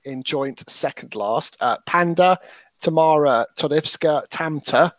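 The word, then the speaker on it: PÆNDA: is actually a dude pronounce it panda as in the animal tomorrow to death skirt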